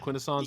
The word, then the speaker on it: Quintesson: The Quintessons, yeah.